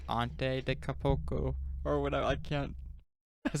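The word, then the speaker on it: Giannis Antetokounmpo: Like he actually sat with me and it was like, okay, it's Ante de Capoco or whatever.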